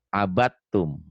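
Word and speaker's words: عبدتم: Setiap huruf mati bertemu huruf bertasydid, huruf matinya jangan dibaca. Jadi abatum. Abatum. Jangan dibaca dalnya.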